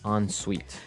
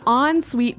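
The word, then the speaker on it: en suite: s UI t e so even though it's n we pronounce it like an o n yep on Suite so an on Suite bathroom is a bathroom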